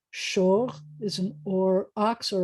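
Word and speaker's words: שור: This is sh with an O and a R. Shor is an or ox or a bullock.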